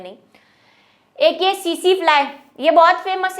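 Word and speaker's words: tsetse: है नहीं एक यह सी सी फ्लाइट यह बहुत फेमस है देखो इसकी स्पेलिंग बढ़िया है इसको इस स्पेलिंग पर मत जाना यह सीसी फ्लाई बोलते हैं इसको जब हम छोटे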